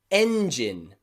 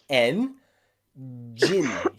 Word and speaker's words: engine: words are things like engine engine like a car engine or a motorbike engine n jin can you hear that j again engine not region is